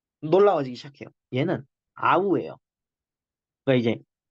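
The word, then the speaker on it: αυ: 얘는 아우예요. 그러니까 이제 딱 쓱 보고 아위, 아위 이게 아닙니다.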